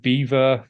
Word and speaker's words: Belvoir: It is, I believe, Beaver Castle, which is spelt Belvoir. I think it's because no one in the local area wanted it to sound French, so they went with Beaver.